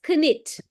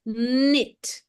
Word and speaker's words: knit: very easy huh knit so here you don't read this as kit because K is a ghost letter in this diagraph nit what do you mean